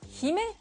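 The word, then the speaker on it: 姫: En fait, princesse en japonais se dit Hime, il s'écrit comme ceci.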